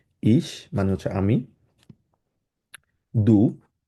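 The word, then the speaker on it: du: ইশ মানে হচ্ছে আমি দু এটাকে ডু না বলে ডে না বলে আমরা সাধারণত দ এর মত উচ্চারণ করব আমরা বলব হচ্ছে দু মানে হচ্ছে ইংলিশে হচ্ছে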